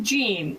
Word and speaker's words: Jean: It's actually pronounced Jean, Oh, but Jean, it's nice to meet you all. Sorry. Yeah, it's not the People French were trying to tell me translation of it. Okay. Carry on. Everybody, yeah, it's all right. It's like the jeans. It's like jeans.